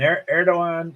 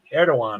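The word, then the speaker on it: Erdoğan: there's no runoff so erdogan there's a D in there but it's pronounced as a w I think erdogan I think um so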